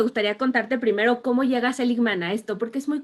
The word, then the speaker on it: Seligman: ¿Estoy Martin pronunciando bien? Seligman.